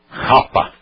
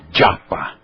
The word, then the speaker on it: japa: Isto aqui é um J. Então, não é Rapa, é Japa. Brasileiros, portugueses, não é Japa, é Japa. Já.